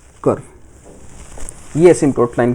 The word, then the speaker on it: asymptote: P silent होता है। एसटोट होता है।